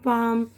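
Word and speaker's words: palm: silent वाले हुरूफ भी जैसे बाम पाम में एल टाइट एट में जी वगैरह ऐसे ही कुछ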